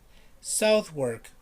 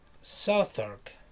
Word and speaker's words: Southwark: pronounced right south work right south work but it's not this is not the real pronunciation south work or the city that you call southwark is southark southark okay southern that's the way it is why i have no